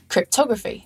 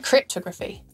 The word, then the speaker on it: cryptography: stressed photography not photography cryptography not cryptography and calligraphy not calligraphy